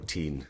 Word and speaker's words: Constantine: where he actually did they did want to pronounce it t but we actually went for teen in the show it wasn't my choice how